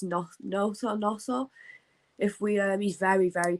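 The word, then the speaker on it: Gnonto: If we can keep, it's a silent G in it. Is it? I always call him Gnotto, and everybody tells me off for it. It's Noto.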